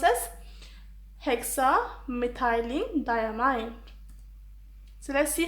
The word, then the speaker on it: hexamethylene diamine: It's pronounced as hexamethylene diamine.